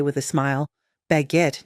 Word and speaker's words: baguette: "Baguette, not bag wet.